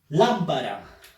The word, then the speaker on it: lámpara: Lámpara. Lámpara. Fuerza de voz en lam.